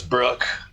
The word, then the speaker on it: Brooke: My name is Brooke. Rhymes with fuck.